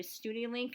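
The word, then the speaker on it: Studielink: hot links here you have to apply to studiolink is how they pronounce it and that's like the main registry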